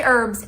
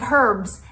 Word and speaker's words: herbs: box of frogs but another category of things that Americans say in a way Britain don't love is herbs we say herbs instead of herbs and then when you